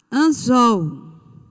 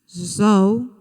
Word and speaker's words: anzol: Próxima palavra, anzol. Anzol. Qual é a sílaba tônica? Zol.